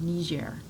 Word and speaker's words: Niger: Okay, so the Niger River is pronounced Niger, but the country itself is actually pronounced Niger.